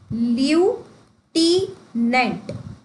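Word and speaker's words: lieutenant: अब ये जो लेफ्टिनेंट की स्पेलिंग है ना हम इसे बोलते ही कैसे हैं? लटिनेंट से इसे याद करते हैं। ल्यू टनेंट।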